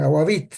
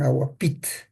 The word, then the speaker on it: agapit: la lengua Aquí está ellos le pronuncian agavit no le dicen agapit pero en la escritura pues escribimos agapit por la unificación de la ura y Aquí tienen los